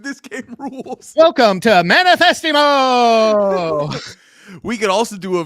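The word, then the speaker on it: Manifestemo: It's Manifestimo. That's spelled manifest -emo.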